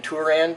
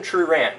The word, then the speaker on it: Truran: get your name wrong I keep calling you Steven tan but there's an r in there Steven truran who is now about